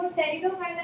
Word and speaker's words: Pteridophyta: तो ये जो ग्रुप है इनको टेरिडोफाइटा कहते हैं। पी साइलेंट है। पी क्या है? साइलेंट है।